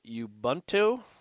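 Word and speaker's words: Ubuntu: on, I'm going to say this correctly here, yubento.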